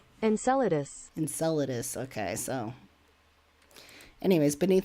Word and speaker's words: Enceladus: and say lus Enceladus oh not en cladius Enceladus Enceladus Enceladus okay so anyways